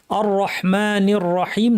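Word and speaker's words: الرَّحْمٰنِ الرَّحِيمِ: আর রাহমানির রাহিম।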